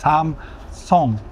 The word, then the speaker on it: Samsung: and the TVs, Samsung, that we all pronounce as Samsung, right? But it's Samsung in Korean, right? Samsung. Well, we always pronounce it as Samsung, and that includes me.